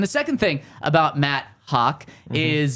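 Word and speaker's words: Haack: This morning they signed Matt Hack. Pronounced Hawk. Hawk. That's better.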